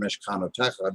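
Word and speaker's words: מִשְׁכְּנוֹתֶיךָ: You say that you heard the word Mishkanotecha during davening, and you notice that at the last part of that word techa is the harder part of the word, the more pronounced part.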